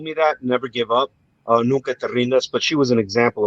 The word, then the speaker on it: Nunca te rindas: Nunca te rindes. Did I say it right? Nunca te rindas.